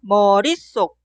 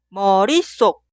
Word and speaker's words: 머릿속: Esta palabra suena 머릿속 o 머릿속. Aquí también la parte posterior 속 suena 속.